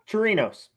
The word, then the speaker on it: Chirinos: Yeah, Chirinos.